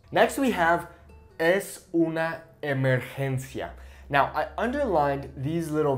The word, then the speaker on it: emergencia: We have es una emergencia. It's an emergency. So it's not emergencia, emergencia, okay, it's emergencia. Okay, really focus on the vowel sounds, okay?